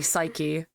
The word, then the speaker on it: Psyche: Yeah, it's It's Psyche pronounced and bitch boy.